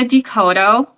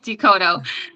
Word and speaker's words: De Coteau: Well, my name is Decoto. I'm the owner. Yeah, Decoto. Yeah, a lot of people pronounce it wrong, so it's okay.